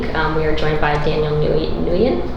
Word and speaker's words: Nguyen: We are joined by Daniel Nguyen. I pronounce it, like, yeah.